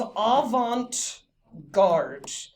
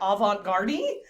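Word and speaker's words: avant-garde: day is aant guard I have heard people pronounce this in all sorts of really incorrect ways like Avant gardi or Avant gardi and all of those yeah all of those are wrong so I'm gonna make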